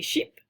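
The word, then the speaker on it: chips: La mayonnaise, ou la mayonnaise, la moutarde, le ketchup, la confiture, la soupe, une barre céréalière, des sheep. So it sounds like the animal sheep, right?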